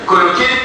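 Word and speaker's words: Cloquet: الليمف نود بتاع الخواجة واحد خواجة اسمه كولوكي بقى عليه فرنساوي من تي لا تنطق مش كده كولوكي ديت تبقى في السوق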